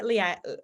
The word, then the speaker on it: Leonie: and he was like it's Princess Leia and then he tapped his knee and said knee and I'm like me